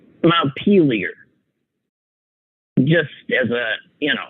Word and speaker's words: Montpelier: same France I mean my memory from learning the capitals when I was in grade school is that's Mount Montpelier like a good American pronunciation not peelier Vermont and she kept saying